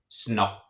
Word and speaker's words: snakke: It has two K's in it. It has an A and then two K's. So that means that A is a short vowel. So I'm going to have kind of a slight pause right between the two K's. So snakke. Now let's say there was not an extra K in that word, and there was just one K. That would become long.